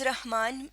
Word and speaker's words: رحمان: اب اس کا اردو میں درست تلفظ رحمان ہے لیکن زیادہ تر لوگ اس کو رحمان ہی پڑھتے ہیں، لیکن بہرحال اس کا جو درست تلفظ ہے اس کے مطابق رے پہ زبر ہوتا ہے. رہ ہے پہ ہم جزم لگا دیں گے رحمان.